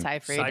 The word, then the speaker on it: Seyfried: It is Seyfried. I said it wrong. It looks Yeah. like it's supposed to be Siegfried, but it's Seyfried.